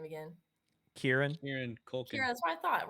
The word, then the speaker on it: Kieran Culkin: And tell me how to pronounce this guy's name again. Kieran? Kieran Culkin.